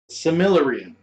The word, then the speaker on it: Silmarillion: Phonetically, it's Similarian.